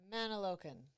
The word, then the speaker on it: Mantoloking: Mantoloking Road. Mantoloking.